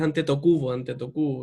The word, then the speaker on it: Antetokounmpo: Resulta que es Antetokounmpo.